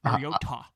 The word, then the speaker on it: Mariota: Mariota.